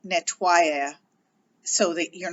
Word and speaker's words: nettoyer: So nettoyer is the verb, but when we put it, when we spell it with an I before we add our ending, you end up pronouncing it more like nettoyer, so that you're not like ing.